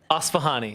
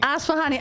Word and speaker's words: Asfahani: And we're in studio with author Asfahani. Asfahani. Asfahani. I said it right the first 3 times.